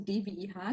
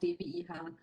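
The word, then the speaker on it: DWIH: in new york and i keep pronouncing dve ha to get you used to the german abbreviation so at the end of the session we expect everybody to shout dve hun in german of course no but back to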